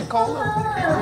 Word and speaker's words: Pecola: Pecola. No, long E.